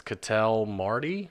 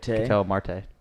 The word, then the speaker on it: Ketel Marte: 3 is Cattell Marty. Mate. Ketel Marte. What the fuck ever, man. Hey, we're just telling you how it's pronounced.